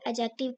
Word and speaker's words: adjective: three we have एडजेक्टिव अब इसको एडजेक्टिव नहीं पढ़ना इसमें डी साइलेंट है इसको एडजेक्टिव पढ़ना है एन एडजेक्टिव मॉडिफाई और